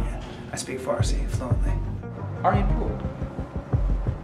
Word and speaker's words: Aryanpur: Americans say Aaron Aryanpur. Wrong. Wrong. R. Aryanpur. Pur. Or at the end it goes up a little bit for exotic people. Aryanpur.